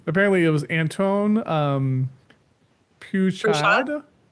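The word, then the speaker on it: Peychaud: So, um, apparently it was Anton um, Puchad. Push. Yeah. Push.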